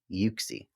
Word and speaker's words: Uxie: check my bible yeah the bible says z you see y-o-o-k-z-e-e uxie i like it less